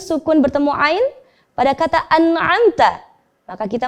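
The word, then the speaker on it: أَنْعَمْتَ: Biasanya seringkali terjadi kesalahan ketika ada nun sukun bertemu ain, itu ada bunyi pantulan pada huruf nun. An'amta. Hati-hati. An'amta. Itu tidak boleh.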